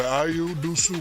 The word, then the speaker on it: Dosunmu: I'll say his name correctly. Ayo Dosunmu. Ayo Dosunmu. Yes, indeed.